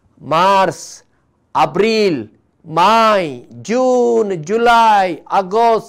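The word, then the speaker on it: Mars: मागीर आमकां येता मार्स, एम ए आर एस. परत्यान सांगता, एम ए आर एस, मार्स, इंग्लिशीन मार्च.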